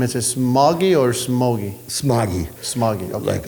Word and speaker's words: Smogie: Smogie. Smogie. Okay. Like a smoggy day.